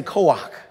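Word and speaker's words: כח: Hebrew term everyone say Co-op k-o-h-a but you pronounce it as if there's a c in the co-op Co-op it means strength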